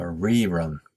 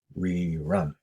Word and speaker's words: rerun: is a good example where you can mark the stress on the first syllable so on top of the e you can write a small slash to indicate that the stress is on the re and not re-run it's a re-run time flies very common